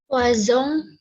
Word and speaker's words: poison: Nah, kata baru ini ya kan, kata baru ini selain connaissance kemarin ada yang bunyinya z apa lagi? Poison. Poison.